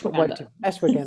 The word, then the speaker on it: ashwagandha: Good, and I'm glad that you said it because I never know how to pronounce that word. It's ashwagandha.